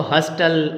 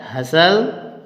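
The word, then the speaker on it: hustle: देखते हो आप BUSTLE, तो आप इसको हस्टल और बस्टल बोलते हो, है ना, लेकिन ये हस्टल बस्टल नहीं होता मेरे मित्रों, ये होता है हसल, हसल और बसल।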